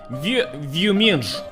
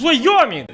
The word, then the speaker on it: Wyoming: He said, Boris, how do you pronounce this? And of course I said, Vyuminj. And he said, no. It's Wyoming! This is US state, блин!